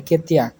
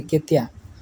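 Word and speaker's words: ketiak: তো বগলকে বলা হয় যে পাখা, হাতের নিচে বগল, ওইটাকে বলা হয় কেতিয়া, ঠিক আছে, কেতিয়া। লাস্টের কেটাকে হালকা করে উচ্চারণ করবেন।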